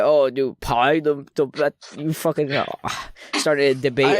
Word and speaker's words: Pai: Pie, like pie. Yeah. Like apple pie.